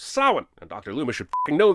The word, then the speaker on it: Samhain: the lord of the dead which is actually pronounced souwan and dr luma should know that i'm surprised